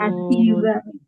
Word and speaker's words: حسيبا: Huruf sin jangan jadi nun. Hasiba. Ya, Oke, barakallah.